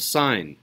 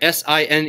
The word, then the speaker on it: sine: but it's actually called sign right si n e above sign if you pronounce this as sin then people might laugh at you I will try not